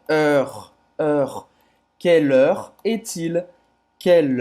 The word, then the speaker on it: heure: Heure, heure. Você vai fazer a boca do O aberto e vai falar E aberto, tá? E depois vai falar esse R.